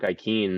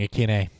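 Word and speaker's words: Westbrook-Ikhine: just see Nick Westbrook ikeen and that's the only one I could actually oh we've been saying it wrong Akin a oh I so don't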